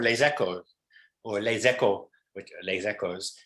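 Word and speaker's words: Les Echos: ecco or les ecco les ecos i have the south accent i pronounce the final s lesekos and um which is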